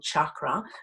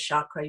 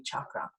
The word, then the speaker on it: chakra: I know I should be saying chakra, but I'm so used to pronouncing it as chakra. You'll hear me say chakra throughout, but it's supposed to be chakra.